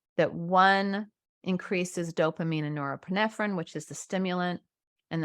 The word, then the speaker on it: norepinephrine: A non-stimulant is an alternative that also increases the level of norepinephrine but not dopamine.